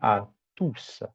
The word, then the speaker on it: tous: En en de en lorsque le mot tous se trouve en fin de phrase, le S est prononcé comme par exemple bienvenue à tous.